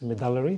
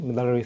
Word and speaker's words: medullary: Derek so U so the name is a little bit hard to pronounce but uh uh the way I pronounce it it's mallary mallary thyroid cancer and it's a relatively